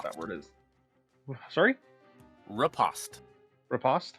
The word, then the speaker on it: riposte: Repo? I don't know what the right way to pronounce that word is. Sorry? Riposte. Riposte? Okay. Is like how it's spelled then.